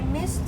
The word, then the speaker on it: missed: Like I missed you yesterday. Where were you? But we hear missed has a t sound, not missed. Missed.